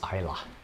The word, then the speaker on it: Islay: It's Isla is the pronunciation, spelled Islay if you want to just butcher the pronunciation.